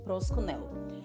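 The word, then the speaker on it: προσκυνέω: O primeiro deles vem do grego e é uma palavrinha que a gente pronuncia assim: prosconel.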